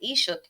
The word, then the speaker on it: Ishak: Because how you pronounce it is Ishuk.